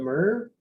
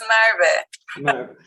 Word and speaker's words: Marvin: their tests more equitable sorry if i don't pronounce this correctly but myrrh it's marvin thank you yeah i'm